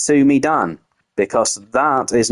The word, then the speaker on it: Sumi Dan: Dan because that is not how you say it. He has told me. He has told me. And you were all wrong. You've all been saying it wrong. It's not It's me, Dan. It's Sumi Dan like uh Mario.